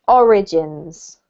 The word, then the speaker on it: origins: this one here is origins it has the emphasis on the first syllable so since its origins origins great thank you jen